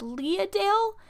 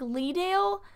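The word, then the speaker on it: Leadale: pronounce the show wrong i think it's pronounced leah dale but it looks like lee dale and i i don't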